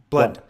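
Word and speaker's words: Blount: One of the things that I see, and I got this from your other buddy, Jeb, was it Blout? Is that how you say his name? Blunt.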